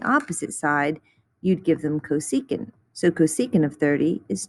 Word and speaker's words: cosecant: one is cosecant so we're always going to say cosecant even when you see this little csc and that is just